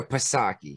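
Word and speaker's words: Psaki: like two-faced yeah jen saki was asked about this is it saki or is it saki or pasaki kataki you pronounce the p that just sounds weird to me but all right i'm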